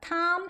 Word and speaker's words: Tom: 그때 통과 제리의 그 톰이 원래 발음은 톰이 아니에요 지금 보시는 것처럼 티는 트 바람 나고 오는 원래 아 발음 나죠 그래서이 에 맞는 발음이에요 그래서 톰 행크스가 아니라 텀 행크스 행크스 이렇게 발음하여 돼요 그리고 앤 n 써